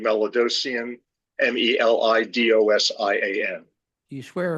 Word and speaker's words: Melidosian: Hi, could you please state your name and spell it for the stenographer? Good afternoon. last name Melidosian, M-E-L-I-D-O-S-I-A-N.